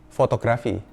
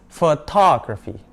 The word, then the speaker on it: photography: Banyak orang akan bilangnya fotografi. Padahal bukan, it's photography.